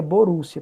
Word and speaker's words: Borussia: reino da Prússia né é Prússia em alemão se pronuncia Borussia por isso que tem